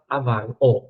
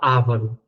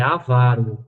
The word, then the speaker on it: avaro: Então, muita gente fala ávaro, mas é avaro, avaro, avaro.